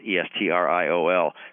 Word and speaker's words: estriol: One of the candidates as an immunosuppressive substance produced during pregnancy is one of the estrogens called estriol, E-S-T-R-I-O-L. Some people pronounce that estriol.